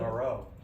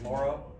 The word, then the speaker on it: Moreau: I mean, I thought it was Moreau, right? That's because Gruden called him Moreau and he didn't correct him. He thinks said it's Morrow? Yeah.